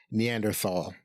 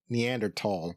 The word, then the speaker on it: Neanderthal: When I first heard the word, it was always pronounced Neanderthal, the TH sound at the end. And then more recently, I heard Neanderthal.